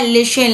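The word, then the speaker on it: listen: होता है पसंद करना एल आई एस टी ए लिन लिन माने होता है सुनना इसमें टी साइलेंट होता है ठीक है तो इसलिए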